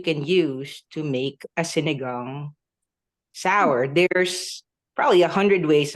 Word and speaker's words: sinigang: Sinigang.